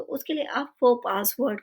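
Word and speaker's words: faux pas: ज्यादा करते हैं और इसे हम प्रोनाउंस करते हैं फो पास फो पास मीनिंग होता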